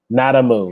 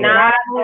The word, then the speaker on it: Nada Moo: In other words, like the word nada. I just wanted nada. To spell it. So nada. Yes. N-A-D-A-M-O. Okay. M-O. N-A, yeah, M-O-O. A moo like a cow.